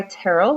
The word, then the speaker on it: Terrell: I actually go by Terrell, which is pronounced like Carol with a T.